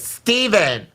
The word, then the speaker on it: Stephen: sexist let's hear okay Stephen with a V I gotta say it like this Stephen okay when I say